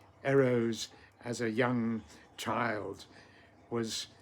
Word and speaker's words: Eros: The Greeks, of course, pronounced him quite differently. Instead of saying Eros, they said Eros. The first syllable short, the second long. Eros, they called the god of love, not Eros like we do.